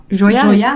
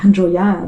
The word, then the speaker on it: Joya: And you opened another restaurant called Joya? Is that how you pronounce it?